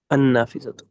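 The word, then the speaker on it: النافذة: আন নাফিজাতু। হ্যাঁ, আচ্ছা। লটা হবে না, হ্যাঁ, লটার উচ্চারণ হবে না।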